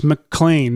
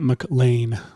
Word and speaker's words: McClane: It's McClane, not McLean.